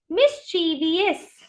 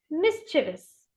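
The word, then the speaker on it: mischievous: People से इट एज मिस्चीवियस। ये मिस्चीवियस नहीं होता है, it's very simple, it's मिस्चिवस।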